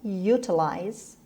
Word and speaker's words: utilize: utilize utilize utilize calamine utilize stress is on you it means make use